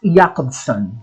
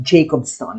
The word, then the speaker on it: Jakobson: It's pronounced Jakobson, not Jacobson.